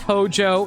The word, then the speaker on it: Hojo: It is pronounced Hojo. So, you do actually pronounce it with a J.